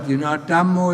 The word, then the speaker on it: Dhammo: Buddha is one word, Dhammo is one word, Sangho is one word. And it always has 2 syllables. Buddha, Dhammo, Sangho.